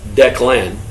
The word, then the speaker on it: Declyn: My name is Declan. That's pronounced like Declan, but my mom liked a fancy Y instead of an A.